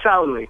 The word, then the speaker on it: Sauli: Sauli? Yeah, Sauli.